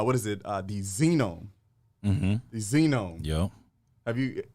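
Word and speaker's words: zenome: that's called uh what is it uh the xenome the xenome yeah have you I've I've briefly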